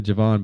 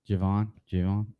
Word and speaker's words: Javon: And then I like the Javon Baker pick at 14-4. I think it's Javon. Is it Javon Baker? Javon. I would say Javon currently until we hear different. I'm going Javon.